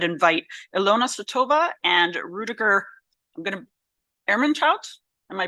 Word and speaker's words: Ermentrout: I would invite Ilona Sotova and Rudiger, Ermentrout. Am I pronouncing it?